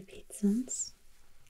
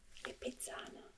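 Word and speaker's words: Lipizzaner: habsburg expositions beautiful horses called the pizzans i think that's how you pronounce it in english lipizzano they come from people just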